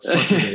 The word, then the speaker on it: Smakuje: So our brand name was Smakuje. I think, do I pronounce that right? It's very, very well. Smakuje, yeah.